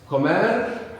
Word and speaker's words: comer: Comer, como. Anyone notice any change there, apart from what I've mentioned? The intonation, comer, we have the accent on the end.